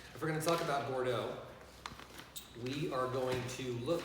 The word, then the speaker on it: Bordeaux: we're gonna talk about Bordeaux we are going to look at for Doug that's how we pronounce it poor Doug Bordeaux okay and Bordeaux is